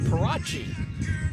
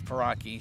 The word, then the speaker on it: Paraki: So in the day job, so he pronounces it Parachi and not Paraki, and so I'm pronouncing it Paraki. He's pronouncing it Parachi, and so I just asked her one day. I said, hey, "Am I messing it up, or how is it?" She said, "No, it's Paraki."